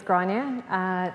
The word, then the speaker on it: Grainne: little bit about me my name is granny it's an Irish name so a little bit difficult to pronounce when you look at it written day I'm a a